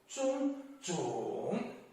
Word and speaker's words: 种: Next, 种 has another pronunciation, 重, the 4th tone, 种.